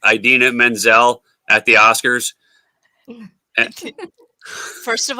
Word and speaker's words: Idina Menzel: of pulled the Rhonda and went, please welcome Adele Mazim.